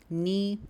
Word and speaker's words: knee: Toda vez, pessoal, que vocês verem palavras que iniciam com K N, provavelmente o K vai ser mudo. Isso vai acontecer na palavra know, por exemplo. Knee é um outro exemplo.